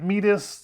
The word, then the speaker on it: meatus: now in my mind I do like to pronounce it meus like they do in the UK because it reminds me